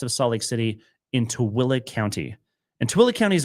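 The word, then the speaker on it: Tooele: Number one is directly west of Salt Lake City in Towilla County. And Towilla County is a really funny word. It's spelled T O E L E. T O L E is pronounced as Towilla.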